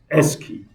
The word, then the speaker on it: ASCII: short okay asci Ally pronounce it as s key so this time when people tell you the SD code do you know what is key code you should say yes I know is Esky okay is a table